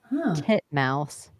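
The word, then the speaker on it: titmouse: the name Birds yeah not even like mispronouncing them to be funny those are the way that you pronounce both of those for real wow I learned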